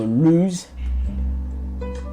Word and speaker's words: lose: l o s e because we are pronouncing the s sounds more like a z so lose and there's a loose